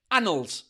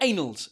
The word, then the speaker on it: annals: It's pronounced annals in English, not annals. Les Français, si vous voulez dire annal, parce qu'en français, annal et annal, c'est la même prononciation que s'il y a un N ou 2 N, mais pour nous, en anglais, ça change tout.